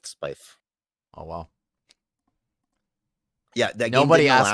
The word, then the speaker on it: Spiife: sounding and i guess that's why it rhymes with knife but i went with spyf oh well yeah nobody